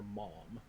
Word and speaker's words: ma'am: American Halo fandom because George pronounces ma'am the everywhere but English way, or everywhere but America way, and people thought he was calling her mom. That's actually what I heard. Yeah, it's ma'am, mom.